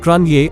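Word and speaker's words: Cruithne: other the Periodic planetoid is named Cru tane pronounced Cronje after an ancient group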